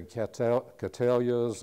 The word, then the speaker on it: Cattleya: A lot of our customers come in and say Cattleyas, and you know, they call them everything. But anyway, remember it's named for William Cattley, and you'll know how to pronounce it.